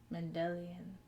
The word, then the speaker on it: Mendelian: Mendelian. Yes. Like Gregor Mendel's genetics experiments.